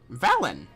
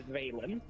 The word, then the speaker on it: Veilen: Um This is your all's new companion, Valon. Actually, can I can I jump in there? Yeah, it's actually pronounced different. It's Veilen.